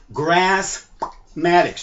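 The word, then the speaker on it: Graspmatyx: x dot com and how we pronounce this word grass maddox how do you pronounce it grassmatics notice on the board the letter p is in the color red so you can pop your p when you say this word the word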